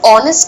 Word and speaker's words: honest: For instance, even though you say the word honest starts with an H, the pronunciation is with the sound of O.